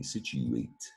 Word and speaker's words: situate: chew but it's situate the u says you and when you says you you say situate comes to us from latin as well surprise situation latin there's the u but it's also that you say the a too that's how you handle